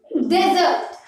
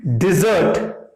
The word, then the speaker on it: dessert: Okay, you take with your meal, Desert. you take with your meal, Desert. not desert, Desert. it is dessert. You take with your meal, Dessert.